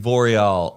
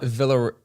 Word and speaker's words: Villarroel: I always say like Villarroel, but it's not. Villarroel. Villarroel. I thought it was like Villa was Via because it's like a Via. Villarroel.